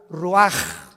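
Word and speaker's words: רוח: ro así como suena se pronuncia la ch en hebreo como J ruaj se le só y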